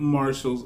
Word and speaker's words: Martial: I am Marshall's Blend Fragrance, and today we're going to be talking about 3 fragrances that I purchased over at Marshall's. Did you know my name Martial in English is pronounced Marshall?